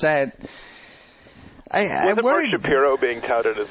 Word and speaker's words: Shapiro: it's not spelled it's like just can you pronounce it Shapiro like where really I have to remember it's